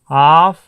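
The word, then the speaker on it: half: में क्या कहते हैं, हाफ एन आवर। ध्यान दीजिए, इसको हाफ पढ़ेंगे जब भी एफ से जस्ट पहले एल आ गया है तो एल साइलेंट रहेगा, इसको हाफ पढ़ेंगे।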